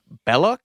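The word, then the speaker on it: Belloq: it's pronounced because he's supposed to be French so it's supposed to be like it should be like Bel but they all just call him Bellic anyway cuz we're American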